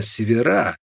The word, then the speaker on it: севера: как ни странно именно севера с ударением на последний слог едва освободившиеся от колючей